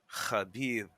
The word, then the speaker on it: Khabib: You ever hear Tito Ortiz trying to pronounce Khabib's name? He just gets it wrong every time. And Joey Oh Diaz, man, that kebab. guy's He calls him kebab.